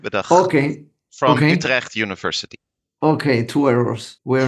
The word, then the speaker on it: Utrecht: From Utrecht University, the Netherlands. That's also correctly pronounced? No? So it would be Vincent Hoogerheide with a Okay. from Okay. Utrecht University.